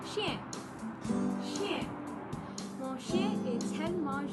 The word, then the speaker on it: chien: Well, Sister Racy, the word dog in French is pronounced chien.